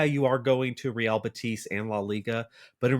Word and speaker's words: Betis: You have, Cucho going to apparently Real Betis, not Real Betis, but I'll I'll give my pronunciation better luck next time on that one.